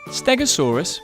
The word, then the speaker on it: Stegosaurus: Stegosaurus.